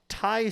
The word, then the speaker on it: Ti: human history has pronounced TI. Yes. Yeah. And according to like patents, there's a reason they can't technically call it TI. So you're supposed to pronounce it Ti, as in titanium.